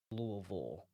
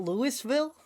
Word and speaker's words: Louisville: Hills sanatorium in Louisville Kentucky yes it is pronounced Louisville not Louisville no cool so do